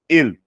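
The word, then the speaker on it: אל: Nós temos aqui a pronúncia El.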